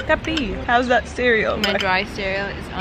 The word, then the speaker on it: Capri: I call it CAPRI, and I think it's CAPRI. Yeah, I think it's CAPRI.